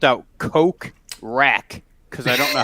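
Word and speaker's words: Kokrak: I spelled out Coke Rack because I don't know how to spell it. Coke Rack.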